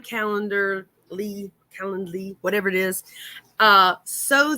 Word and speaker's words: Calendly: don't know why uh callan calan i was saying it wrong somebody corrected me calendly calendarly whatever calendly very inexpensive for people